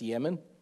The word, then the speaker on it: Yemen: Well, I know it says Teman in our English Bibles, but the T is silent in the Hebrew, and that's Yemen. That's how that's pronounced, Yemen.